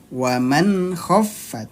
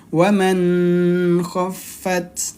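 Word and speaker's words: وَمَنْ خَفَّتْ: tidak ditahan dua ketukan waman khofat Jadi bukan waman khat nah jadi bukan waman nah karena ini izhar halq dia dibacanya pendek jelas dan pendek satu ketukan saja waman khofat Nah di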